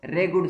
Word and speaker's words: regur: Zone सी black soil होती है वो रेगर सॉइल भी होती है, यानी उसको दूसरे नाम में क्या जाता है, रेगर सॉइल। और कुछ लोग इसको रेगुड सॉइल भी बोलते हैं। तो दोनों प्रोनाउंसिएशन ठीक है।